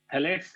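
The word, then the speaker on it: phthalates: थैलेट्स में P silent, PTHA, LATES.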